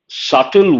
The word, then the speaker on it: subtle: The very first word, insidious, part of speech adjective, proceeding in a gradual, subtle way. Here, B is silent.